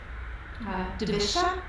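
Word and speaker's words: dvesha: So it's the Sanskrit, Divisha. I'm not exactly sure how that's pronounced, but it's D-V-E-S-H-A, and it's also spelled D-V-E-S-A.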